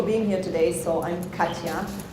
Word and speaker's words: Katja: So I'm Katja. You can just pretend that J is a Y.